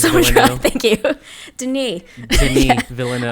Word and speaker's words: Denis: Denis. Denis Villeneuve. Not Dennis. It's Denis. No, it's Denis.